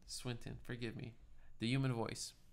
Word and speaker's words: Swinton: fuckups you know anyways till swiland am I pronouncing that right Swinton Swinton forgive me the human